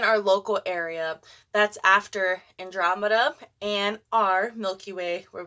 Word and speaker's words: Andromeda: compared to the Andromeda by the way Andromeda is the right way to say it yep I listen to